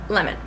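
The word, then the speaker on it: Lehmann: 1988 by Michael lemon it's definitely pronounced lemon basically best thing about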